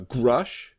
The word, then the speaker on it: Grush: then there was a grush which is a toothbrush which is Bluetooth toothbrush that makes game out of brushing your teeth and rhymes with thrush there was this thing